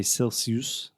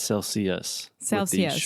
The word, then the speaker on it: Celsius: okay just one thing well I see you pronounced it correctly right now but a lot of my students I've heard say Celsius Celsius but its Celsius wah sound at the end cool and how